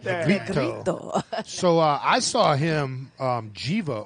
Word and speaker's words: Negrito: Negrito, that's how you say it? Like that. Negrito.